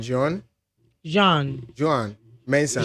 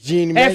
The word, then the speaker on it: Jean Mensa: Joan Mensah. Jean, yeah. Jean Mensah. French name is Jean.